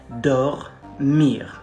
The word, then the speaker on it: dormir: likely is dormir it's it's a very good word to practice the pronunciation of the letter r like it's really think about you have something stuck here like you're choking on something and you're trying to spit it out it's gonna be like